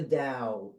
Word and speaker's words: Tao: listeners that maybe don't know anything about the da and that's actually spelled ta o but pronounced d AO yeah D and and you